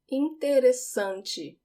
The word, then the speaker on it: interessante: Interessante. Interessante. Notice that the double S just sounds like an S.